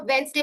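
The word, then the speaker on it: Wednesday: तो आपको याद रखना है वेडनेसडे में डी क्या है? साइलेंट है। तो आप कैसे याद रखोगे कि जब भी डी एन के पहले आएगा तो डी क्या होगा? साइलेंट। इसलिए इसको हम वेडनेसडे पढ़ते हैं।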